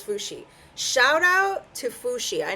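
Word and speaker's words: Fu Xi: I was right. It was Fushi.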